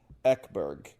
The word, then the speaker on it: Ekberg: Ekberg, as pronounced in Sweden, is just not accessible to me in terms of the pronunciation, in terms of me being able to do that on short notice.